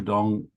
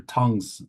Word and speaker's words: Tung: okay so regarding uh Master Dong's name uh this is the Wade Giles spelling of it the legal spelling of it from Taiwan uh of course if we were to spell it in pinion we would spell it dong d o n d acupuncture don't don't call it Master Tong's acupuncture or Worse Master Tong's